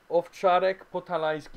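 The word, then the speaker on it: Owczarek Podhalański: Owczarek Potalański is how you say it in Polish.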